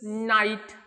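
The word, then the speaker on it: know: डब्ल एच L hole म्हणजे सर्व पण मात्र प्रोनन्सिएशन दोघांचे होल असच होत then K एन आय ST night then N आय ST night रात्र या अर्थाने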